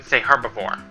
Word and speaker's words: herbivore: I pronounce the H too when I say herbivore.